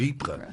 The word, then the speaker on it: Ypres: don't talk about it was the wipers times was that classic Tommy mispronunciation of Ypres oh it's not I